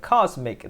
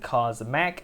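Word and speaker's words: Cosmc: And finally, for the fry section, we have Cosmic, that's spelled C-O-S-M-C, as in Cosmac, as in Cosmic, as in space, because he's a cute little alien dude, and I do like him a lot.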